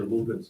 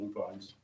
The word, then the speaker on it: lupin: she's seen the video, they're lupins, not lupines. The flowers. Every time she sees it, she's got a comment. I've never heard anyone pronounce it other than lupins, but it's not too intuitive.